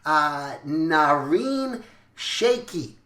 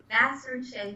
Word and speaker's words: Nasrin Sheykhi: Today, I'm excited because I have a special guest on here, Nasrin Sheykhi. I said it wrong. Nasrin Sheykhi. Nasrin Sheykhi. I left out the S.